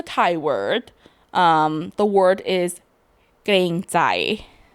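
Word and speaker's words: เกรงใจ: I'm gonna say it again in case anyone out there who wants to learn it. The word is kreng zai. Maybe if I spell it, you can understand the way I pronounce it better. It's Kreng. That's kreng. And zai is Jai.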